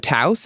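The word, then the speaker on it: Tous: And another tidbit about what's going on with you, you're the new face of Taos. Am I pronouncing that right? Taos, yeah.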